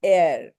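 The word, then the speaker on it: heir: or rank of another so air H is absolutely silent air air okay air okay ma'am Adam alas Airship okay all these words H is silent okay so that here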